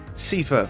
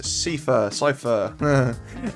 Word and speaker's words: Seifer: I say Seifer because the way I've always seen it is in German you say Ein, and that's spelled E-I-N. I'm sure there's spellings for words I said either way, but Seifer, I'm saying Seifer.